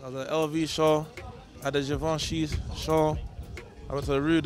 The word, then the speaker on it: Givenchy: know what you said givenchy it's not it's not javanchy bro i've been getting told off store i've been pronouncing it wrong but yeah you're out